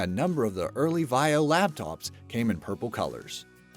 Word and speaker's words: Vaio: Teyu Goto, also wanted the pronunciation of the acronym to sound like bio to symbolize life. It is also very similar to violet, which accounts for why a number of the early Vaio laptops came in purple colors.